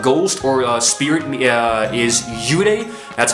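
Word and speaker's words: 幽霊: In their mythology, in their language, a ghost or a spirit is yurei, that's how you pronounce it, but then vengeful spirit, the one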